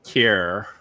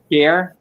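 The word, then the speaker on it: Kjær: Simon Kjaer. Kjaer? Yeah. Or Kjaer. Like because the AE is like a E, like ether. So Kjaer?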